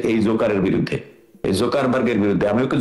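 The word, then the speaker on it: Zuckerberg: এই জোকারের বিরুদ্ধে, এই জোকারবার্গের বিরুদ্ধে। আমি ওকে জোকারবার্গ বলবো, জোকার ওর নাম হচ্ছে অ্যাকচুয়াল উচ্চারণ হচ্ছে জাকারবার্গ।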